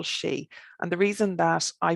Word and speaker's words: sidhe: maybe middle irish and they all just are pronounced in the same way and it's all she and the reason that